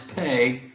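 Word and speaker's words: פ: myself confused here okay without the with the dot is pay without the dot is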